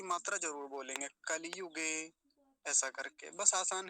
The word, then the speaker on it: कलियुग: दिन बता रहा था कुछ लोग क्या बोलते कलयुग जैसे कलयुग कह देते कलयुग नहीं होता कलियुग कली हर स्वीकार की मात्रा जरूर बोलेंगे कलियुगे ऐसा करके बस आसान